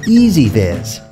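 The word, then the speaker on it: EZVIZ: It's pronounced EasyViz.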